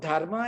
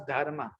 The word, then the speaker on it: dharma: So they don't know which one is silent and where the A is silent and where the A is to be pronounced.